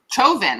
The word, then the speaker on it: Chauvin: Chauvin, like chauvinist. Chauvin, yeah. Like chauvinist, literally like right, chauvinist, yeah.